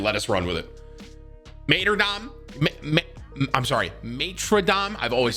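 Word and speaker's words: Martyrdom: Tim, it's Mater Dom.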